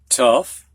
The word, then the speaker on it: tough: And we get to these ough endings now, which some sound like uff, as in these words right here. Students, go ahead. Tough, rough, enough.